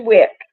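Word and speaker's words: Wyc: His name is Wick. It is Pronounce WIC. it Wick.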